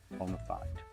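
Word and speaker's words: bona fide: Okay, which and as we all know it's pronounced bonafide.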